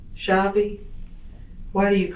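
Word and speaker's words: Shavi: Shabi. Shabi.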